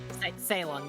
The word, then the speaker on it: Ceylon: I think is that pronounced Ceylon? Ceylon, yes.